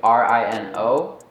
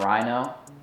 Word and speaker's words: Reeno: name is mazzarino and I was gonna just do rin oh but then I was afraid people would say it like rhino so I was like I need to spell it out for people Reno is like a